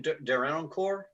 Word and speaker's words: Derenoncourt: How do I pronounce his last name? Derenoncourt?